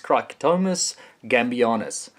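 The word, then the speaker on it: Cricetomys gambianus: It's not that easy to pronounce Latin names, but it's Cricetomus gambianus.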